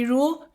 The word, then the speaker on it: 得: děi这个发音在生活里面会这样说 The 'děi' pronunciation is used in daily life 比如女朋友在化妆，她化了两个小时 like when